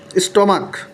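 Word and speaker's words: stomach: এই পাকস্থলীর সাথে কিন্তু এই যে স্টমাক, যেহেতু এটা কোনো চয়ের মতো উচ্চারণ হয়নি, এটা হচ্ছে এসের মানে কয়ের মতো উচ্চারণ, যার কারণে এস যুক্ত হয়েছে।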